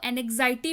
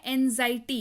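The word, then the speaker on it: anxiety: मैंने कई बार बच्चों को देखा है इसको एनेक्साइटी पढ़ते हैं। अब आई डोंट नो क्यों पढ़ते हैं, लेकिन इसका मतलब हो सकता है वही समझ में आता हो, लेकिन इसकी मैं करेक्ट प्रोनाउंसिएशन आपको बता देती हूँ। इसका मतलब होता है एंजाइटी। इसको कैसे पढ़ते हैं, मेरे साथ रिपीट कीजिए, एंजाइटी। अगेन से रिपीट कीजिए, एंजाइटी। जी हाँ, इसको पढ़ते हैं एंजाइटी, जिसका मतलब होता है चिंता, व्याग्रता या फिक्र।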